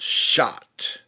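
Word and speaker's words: Chartres: you go to the Cathedral in France called shot and I know that it's it's not spelled s o sa chhoti it's spelled CH a T something like that it's the shot Cathedral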